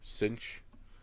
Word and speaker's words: Synch: Is the other one, is it Synch, S-Y-N-C-H, Synch, which is what I do with a backpack?